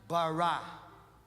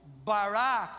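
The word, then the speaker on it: ברא: O verbo criar é no original hebraico barra. Eu não sei falar, tá? Mas deve ser essa pronúncia. Barra, que é faça a partir do nada. É o mesmo bará que ele escreve lá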